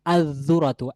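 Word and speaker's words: الذرة: সে কষেত্রে বলতে হবে আজুরাতু আজুরাতু আজুরাতু এখানে লামের উচ্চারণ আসবে না জালের সাথে লামটি মিশে যাবে এবং জালের উচ্চারণ হবে লামের কোন উচ্চারণ হবে না আজরাতু তারপর দেখেন রদি হচ্ছে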